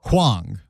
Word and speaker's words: Huang: She is a Wait, Wang or Hang? Huang.